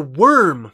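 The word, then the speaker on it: wyrm: You've got the worm class, W-Y-R-M, or you could spell it the other way. But it's the worms, the worms.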